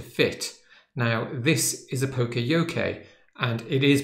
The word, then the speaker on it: Poka-Yoke: the card to fit now this is a Pocoyo Kay and it is pronounced Pocoyo K by the way so I